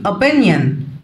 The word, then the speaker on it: opinion: رأي opinion. opinion. عندنا في كلمات اللغة الإنجليزية لو الاسم أو الكلمة بتنتهي بـ أن ما بنطقش حرف الأو بيبقى زي silent كده.